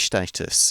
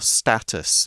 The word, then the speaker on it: status: it a world heritage status or status both pronunciations are okay but liverpool has just